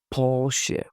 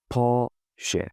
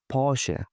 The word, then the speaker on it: Porsche: Please don't like the right way to pronounce this is Porche. Porche. Of course, you can pronounce it the way like maybe your language or your accent like permits you can say whatever you like. But when you hear someone say Porsche, you respect.